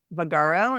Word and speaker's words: Vagaro: that right is that the next one yeah vagaro and so that's spelled v a g a r o um